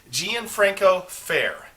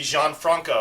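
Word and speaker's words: Gianfranco Ferré: be tying up a gianfranco fair gianfranco fair it looks like it would be jean franco i actually had to google how to pronounce it's gian franco fair that's uh their label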